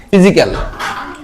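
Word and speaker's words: physical: পি এইচ ওয়াই ফি পি এইচ এর উচ্চারণ হচ্ছে ফ পি এইচ এর উচ্চারণ ফায় এর উচ্চারণ কি দীর্ঘকার তাহলে ফি ফি জি ফিজিক্যাল ফিজিক্যাল কি উচ্চারণ ফিজিক্যাল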